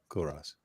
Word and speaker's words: Culross: How do you say that? Cool Rose, you said? Cool Rose. CULROSS. Okay. Cool Rose.